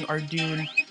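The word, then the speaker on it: Ardougne: it to arty because no one likes saying arduin it's spelled like arduiny but it's already it's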